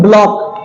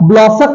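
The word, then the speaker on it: block: अगला है, आप देखें ब्लॉक, सेम वही ब्लॉक, ब्लॉसक नहीं है, ब्लॉक है, सी साइलेंट मान लिया गया है।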